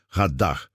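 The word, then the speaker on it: רָדָה: Radá se pronuncia radá.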